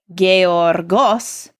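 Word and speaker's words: γεωργός: so this word is gay orgos and the accent there is on that last syllable the Omicron in boss and you notice that that means that I went gay orgos the stresses on that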